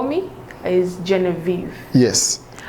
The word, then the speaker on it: Genevieve: people call me is genevieve yes but french-wise it's pronounced jean-viv oh wow man i